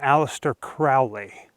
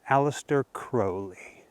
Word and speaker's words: Aleister Crowley: growing up in the United States I always pronounced alistair's name aliser Crowley but supposedly according to him even his name is actually pronounced Alistair crowy I was like a crow heard call him